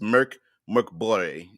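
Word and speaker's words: Mörk Borg: Uh, Deadman says the name of the game pronounces Merc Borg.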